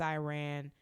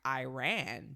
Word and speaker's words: Iran: I thought it was cute about how in Mississippi, I have always pronounced it like Iran, but it's Iran, and I still say Iran by like default.